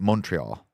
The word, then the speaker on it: Montreal: As I've been corrected, it's Montreal. That's how you say it if you're an American and don't want to speak the Queen's language, Oh, French.